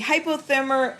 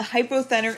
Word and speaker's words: hypothenar: So the hypothermar eminence, oh my god, I said it wrong, and the thenar eminence. The thenar eminence exists thumb side, and the hypothenar eminence exists pinky side.